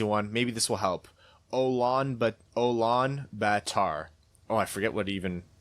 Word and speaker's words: Ulaanbaatar: He says, good effort on pronouncing Mongolia's capital last week. It's not an easy one. Maybe this will help. Ulaanbaatar.